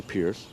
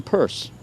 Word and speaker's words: Pierce: President Franklin Pierce, direct descendant of President Pierce, who didn't actually say Pierce. He pronounced his own name Peirce, but that's another story.